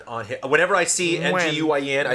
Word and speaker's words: Nguyen: If you really want to do it, it's Tuam Nguyen."